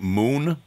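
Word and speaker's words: Munn: a band uh from if I'm pronouncing it right moon but it's it's spelled m-u-n-n yeah yeah that was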